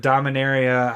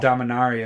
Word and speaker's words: Dominaria: that they said that da mineira how I was saying it is kind of like Minnesotan words Dom in the area but Dom Inari is the proper way to say it so you've been saying